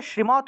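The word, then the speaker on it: श्रीमद्: কিরকম শ্রীমদ ভগবত গীতা কিন্তু সংস্কৃত ভাষায় শ্রীমত উচ্চারণ হবে কারণ সংস্কৃত ভাষায় দ এর নিচে অসন্ত থাকলে সেটা তত মত উচ্চারণ হয় শ্রীমত শ্রীমদ ভগবত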